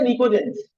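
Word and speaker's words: pnictogens: नाइट्रोजन की family को हम कहते हैं निकोजेंस। पी साइलेंट है।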